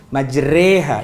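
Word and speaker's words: مجراها: Majreha itu imalah bacanya e.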